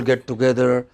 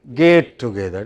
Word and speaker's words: get together: of get togethers but many people pronounce get together as gate together gate is another matter